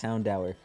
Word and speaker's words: Houndour: Houndour is literally pronounced Houndour.